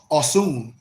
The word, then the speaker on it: Osun: When I talk about the fourth Orisha, which is the warriors, the group is Osun, pronounced Osun, represented by a metal chalice, fringed with jingle bells, and topped by a rooster.